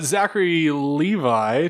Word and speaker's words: Zachary Levi: Zachary Levi to star in DC's Shazam. That's right. So, Zachary... Did I say his name right? I never say people's names No, right. you did, actually.